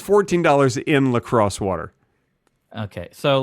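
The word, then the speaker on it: La Crosse: is great so far yeah yeah in uh Lacrosse Wisconsin he went he's going to college there it's a college town I love their water their sparkling water is delicious lacroy you're thinking of lacroy it's pronounced lacrosse no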